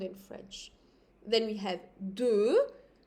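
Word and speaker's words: deux: Then we have 2, 2, it's mild, I'm not pronouncing the X.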